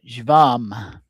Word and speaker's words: jvam: And then one final seed mantra that we'll be uh using tonight is the uh the syllable jvam and we'll use this as uh the mantra for beginning our practice tonight.